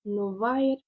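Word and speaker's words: novaer: Nous allons avoir porte-toi bien, qui va se dire Novair, Novair. C'est no, c'est un vair, sauf que le AE se prononce I.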